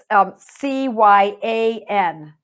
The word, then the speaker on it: cyan: that Sol and Vive are interchangeable, and Mercurius C-Y-A-N. So I pronounce it cyan, but it is a different